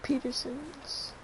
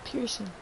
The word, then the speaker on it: Pearson: Peterson's mission first. I think that's how you pronounce his name. Pearson. Not Peterson, it's Pearson.